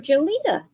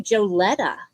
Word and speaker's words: Jolita: jolita and I apologize I'm always calling you joleta so I apologize for pronouncing your name wrong I started I started with joletta also and she never corrected me until I saw her in person she's like my name's jolita I went oh why